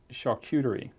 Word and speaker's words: charcuterie: $64,000 question and it's can I pronounce it correctly what is charcuterie yeah you did good did I do good